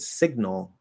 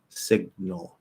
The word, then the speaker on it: signal: not an a um if you look in the dictionary it's probably going to be a schwa but as i've said before the way that i speak and the way that still sounds perfectly neutral and natural um instead of trying to do an l colored schwa just completely ignore that and just do the half l the dark l right half l vowel sound so you're going from